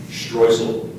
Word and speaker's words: Streusel: Are there any other alternate pronunciations? There is one alternate. Streusel.